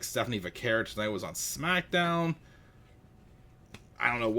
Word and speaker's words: Vaquer: We all know right now that Stephanie Vaquer, not Vaquay, as Nikki Bella mispronounced it, Vaquer, won the Battle Royale